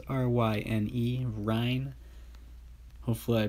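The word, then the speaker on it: Ryne: one right here another silver all right ryan stanic spelled r-y-n-e ryan hopefully i pronounced that clearly enough and using the guy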